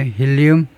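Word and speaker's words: helium: 힐리움 영어 발음은 힐이가 그죠?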